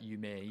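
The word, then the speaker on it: ゆめ: time it will be a vowel extension if it is ending in an e character. So it's not kirei, it's not yumei, Okay. it's kire, yume, right? It's not Yeah. ending in that e syllable.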